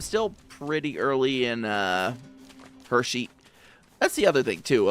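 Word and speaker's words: Hexi: Yeah, I'm still pretty early in uh Hershey. That's the other thing, too, about the uh name of this area. It's It's spelled H E Xi, but it's pronounced Hershey, like the Hershey kisses.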